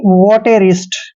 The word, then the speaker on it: votarist: दोस्तों वी का उच्चारण वह करते हैं, ओ को ओ की मात्रा पढ़ते हैं। टी का उच्चारण टे करेंगे और ए को ए की मात्रा पढ़ते हैं। आर को रे पढ़ना है, आई को छोटी की मात्रा पढ़ते हैं। एस का उच्चारण से करना है और टी को टे पढ़ना है, यानी कि वोटेरिस्ट।